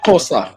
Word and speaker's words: Xhosa: She is actually Xhosa. That's her ethnic group. Yeah. And technically it's pronounced Xhosa. but okay. Yeah. Yes. Xhosa.